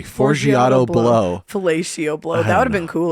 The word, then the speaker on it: Forgiato Blow: The It's a guy's big- name is Faragio Blow. Faragio Blow. How do you say it? Fellatio Blow? Forgiato. Sorry. Forgiato Blow.